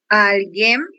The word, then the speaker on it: alguém: Alguém. Novamente, por favor. Alguém. Isso, exatamente. Nós temos como sílaba tônica a sílaba alguém, certo?